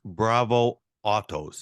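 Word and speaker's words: Bravo Otto: between 1973 and 1980 you've been awarded six Bravo Autos is that how to pronounce it yep and then in 2010 she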